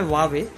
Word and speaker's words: Huawei: मैं पहले इस वर्ड को प्रोनाउंस क्या करता था, एस यू वाई, लेकिन वो बिल्कुल एक रॉन्ग प्रोनाउंसिएशन है। इसके कंपनी के ऑफिशियल जो है इस वर्ड को प्रोनाउंस करते हैं इस नाम से। जी हाँ, इसका नाम है वावे।